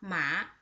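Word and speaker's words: 麻: The second one with the second tone, its pronunciation is just like this. Mua, ma.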